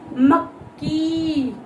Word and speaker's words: मक्की: जैसे मक्की, मक्की यानी दो क की साउंड आ रही है।